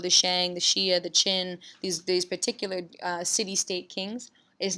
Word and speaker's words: Qin: the rule of the Qin Shi Huangdi. So you see Qin, pronounced like a chin, like the chin on your face.